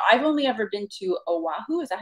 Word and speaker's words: Oahu: No, I've only ever been to Oahu.